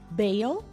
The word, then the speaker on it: bale: Olha a diferença de pronúncia. Bale, bale, bale, pale. Percebam que não é tão fácil de perceber, mas tem uma diferencinha de pronúncia entre eles.